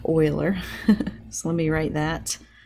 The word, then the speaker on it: Euler: methods of Euler and I know that doesn't look like oiler so let me write that it looks like Euler maybe but it's actually pronounced Euler the approximation method for